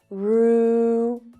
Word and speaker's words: rural: Rural. Rural. So the second syllable is unstressed and it's lower in pitch.